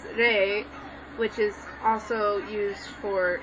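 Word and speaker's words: 霊: you're shouting everything because ghost over there is pronounced as Rey which is also used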